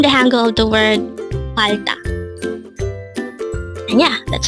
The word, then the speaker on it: 팔다: going to learn about palda. Let's start. Learn Korean one word at a time only here at Dae-Hangul. Word number 325. Palda. Again, it's palda. This is pronounced as a two-syllable word.